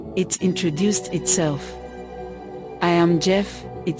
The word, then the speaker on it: Gef: I am Gef, it said.